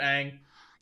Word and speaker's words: Aang: She only cares about Aang. That rhymes with Mang!